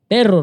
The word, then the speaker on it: perro: Because a dog in Spanish has Double R. It's pronounced perro, right? Uh-huh. You hear perro, right?